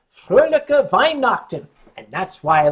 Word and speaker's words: Weihnachten: You say Fröhliche Weihnachten. And that's why I like it. It's called Weihnacht. Wine night.